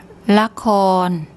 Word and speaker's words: ละคร: Okay, here we have the lorling, the L consonant, then a short A vowel, then a korkwai K consonant, and rua, no vowel. ละคร ละคร ละคร That is the Thai word for drama.